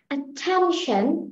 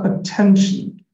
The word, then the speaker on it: attention: Now can I pronounce that? Attention.